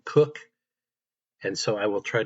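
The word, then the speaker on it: Koch: it's spelled Ko H, I believe they pronounce their name in the family, Cook.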